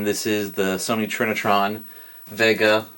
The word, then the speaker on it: Vega: This is the Sony Trinitron Vega. That's actually pronounced as a V, not a W because it's German.